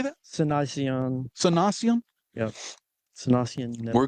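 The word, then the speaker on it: Cynoscion: Cynocian.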